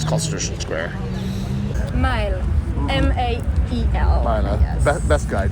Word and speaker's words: Mael: Mael.